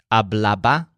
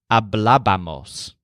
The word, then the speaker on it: hablábamos: The stressed syllable is always blah, because that's all that Lars says as he stands behind the counter. Blah, blah, blah, blah. So we have hablaba, hablabas, hablaban, and hablábamos.